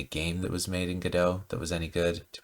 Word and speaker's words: Godot: But I finally settled on Godot, which, by the way, is pronounced probably 3 or 4 different ways by different people. Godot, Godot, Godot. So I say Godot, but lots of people say it different ways.